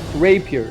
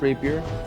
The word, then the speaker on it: rapier: already targeted him so all you got to do is um rape here it's pronounced Rapier and uh you just